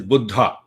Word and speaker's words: Buddha: good buddha you know we we americans say buddha now i cannot speak the the way you guys speak buddha means old so actual pronunciation is buddha buddha practiced meditation for